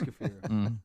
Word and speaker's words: kefir: Oh, is it kafir? Well, if you want to say it right, but you don't have to. No, it is kafir.